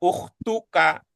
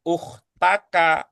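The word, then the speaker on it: أختُكَ: Begitu juga di sini tadi Bu Yayah sudah membacanya ukhtuka bukan ukhtaka bukan ukhtika. Ini juga terakhir tadi Bu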